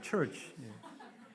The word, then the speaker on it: church: 처치가 아닙니다. 우리 처치. 저희가 이제 필리핀어라서 처치 그러니까 못 알아들으시더라고요. church. 이게 이제 해가 좀 이렇게 올라가야 돼요. church. 이 church 상당히 공감이 되시는가 본데 요즘 알 발음이 잘 안 되죠.